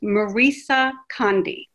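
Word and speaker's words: Maryse Condé: um the author and i looked up how to say her name because it didn't quite sound look like i should say it that way is marisa conde and the book won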